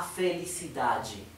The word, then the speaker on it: felicidade: Ven a felicidade. Bien, nuevamente ven que la D, E al final, se pronuncia G. G. Felicidade.